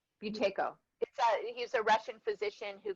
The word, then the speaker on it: Buteyko: it how do you say boutique protector potico buteyko buteyko he's a russian physician who came up with